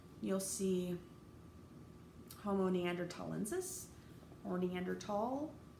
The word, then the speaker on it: Neanderthal: It is not Neanderthal. It has never been Neanderthal. Do not pronounce it Neanderthal. It's Neanderthal. Sometimes you'll see the Neanderthal spelled with a T. Sometimes you'll see it with a TH. It doesn't matter. It's still Neanderthal.